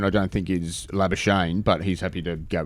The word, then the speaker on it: Labuschagne: Leading run scorer in County Cricket Division 2, one Marnus Labuschagne. Now, am I pronouncing that correctly? Labuschagne.